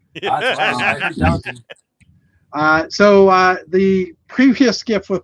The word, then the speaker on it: Downton: Anyway, I didn't say downtown, for the record. Downton.